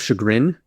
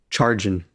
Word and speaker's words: chagrin: I always pronounced it instead of chagrin charging cuz I only ever read the word and I just like I've never heard it said.